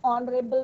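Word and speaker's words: honourable: An honest man, ओ का pronunciation हो रहा है। एन ऑनरेबल मैन।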